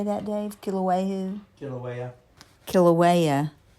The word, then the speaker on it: Kilauea: Kilauea.